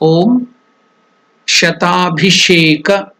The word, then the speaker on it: Shatabhisheka: Next the mantra is Om Shatabhisheka. Again here Abhisheka, there also that mantra, the Sha is the Murdhanya, Sha, just like Pushpa. Om Shatabhisheka, Bha is Mahaprana, Abhi.